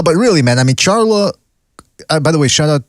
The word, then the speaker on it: Charlo: hand don't think yeah i think it's pronounced charlotte charlo charlo how about [ __